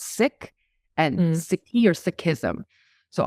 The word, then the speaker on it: Sikh: and when I say sick oftentimes people call us seek call our faith as uh Sikhism or seek ye it's actually decolonizing language and in our spirit of being inclusive it's actually pronounced sick and sick here Sikhism